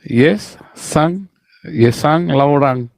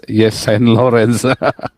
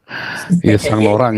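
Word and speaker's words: Yves Saint Laurent: Ya, kenapa bacanya apa itu? Yesang Laurang. Yesan Laurang ya. Yesan Laurang, maklum orang kampung kita yang ngomongnya Yes Saint Lawrence. Yesang Laurang ya, baca Yesang Laurang.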